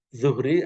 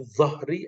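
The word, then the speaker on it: ظهر: Wataswiyatu dhahri, ini kalau dibaca zuhri artinya sholat zuhur. Tapi kalau dibaca dhahri artinya punggung.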